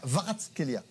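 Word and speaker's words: Kvaratskhelia: Normalement, on ne prononce pas le K. On dit Varatskelia.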